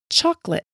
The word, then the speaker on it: chocolate: This O is silent. It's not chocolate. It's chocolate.